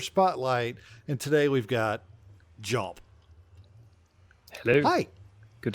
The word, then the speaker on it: dJomp: silent D is silent D is silent okay so everybody everybody who W all all like 12 of you that are going to watch this video just just forget that's even there it's just jump it's not there yep